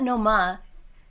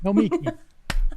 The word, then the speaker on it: Nomiki: It's not Noma. It's Nomiki. me. Nomiki. Nomiki. Nomiki. Nomiki. You do this thing where you make it a mutt in between. Oh my God, Sam. Nomiki.